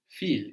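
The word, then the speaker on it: viel: Feel is spelled V I E L. V I E L. And of course the V gives us an F sound like in to understand feel.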